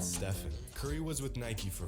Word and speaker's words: Stephen: The Nike rep that was pitching the deal to Curry called him Stefan, not Stefan.